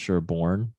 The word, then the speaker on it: Sherbourne: on Bloor and Sherbourne, but it's pronounced Sherbourne, like the Bourne Supremacy or the Bourne Ultimatum, Bourne Supremacy, all the other Bourne movies.